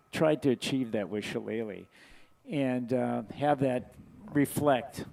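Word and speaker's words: shillelagh: It's always been pronounced challe, you know, from from my memory.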